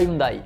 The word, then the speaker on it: Hyundai: Oui, on prononce Hyundai, pas Hyundai.